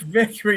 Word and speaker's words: Vickrey: Let's Eric Victory. Nice to Is that Am I pronouncing it right?